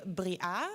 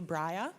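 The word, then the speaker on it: Briah: well my name is Bria or Breya in an easier pronunciation b-r-i-a-h and you're welcome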